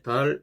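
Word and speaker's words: ذال: 그 다음에 이제 두 번째 달 모양은 이제 달 같죠. 분매랑 모양, 분매랑이 옆으로 약간 기울어진 모양. 그런데 위에 점이 있습니다. 달 이런 식으로. 그리고 이거는 발음 기호로는 DH입니다. 달 혀가 이 사이에 나오면서 나는 소리.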